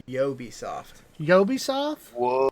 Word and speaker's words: Ubisoft: it both being wrong because it's pronounced yo be soft yo be soft whoa why Oh Oh be soft no that would be Ubisoft why yeah weird though